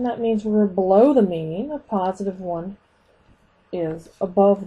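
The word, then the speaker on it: μ: highest point is the mean we're going to use a lowercase Greek letter mu for the mean me that's how you say it and we're going to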